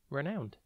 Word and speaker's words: renowned: time today's word is renowned it is pronounced rowned and it is spelled r e n o w n e d think Ren then own and then Ed renowned renowned means known or